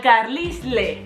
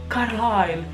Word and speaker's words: Carlisle: O sigui, com es pot arribar a pronunciar Carlyle, Carlyle? O sigui, ai? La I no hi ha una I. I la S que se la menja. I la E al final també.